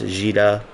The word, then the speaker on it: Dida: I know that Dida is pronounced Gida.